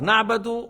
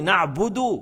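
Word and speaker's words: نعبد: Na'badu, on nie. Entre na'badu et na'budu, oui, il y a grande différence. Na'budu, on adore. Na'badu, on nie.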